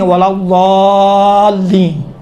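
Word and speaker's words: وَلَا الضَّالِّينَ: ولا ضالین، دال جیسا ہوتا ہے لیکن کاملاً دال کا تلفظ نہیں ہوتا ہے۔ اما اگر اس سے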